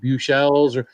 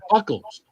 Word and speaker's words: Buechles: His last name was spelled like Buechles. It's like Buchels, they used to call him Buckles. And I never knew that wasn't how you pronounced his name.